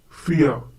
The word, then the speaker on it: vier: Vier. Once again, vier. The pronunciation is similar to the English word vier. We have already learned that the German V has the same sound as the English F.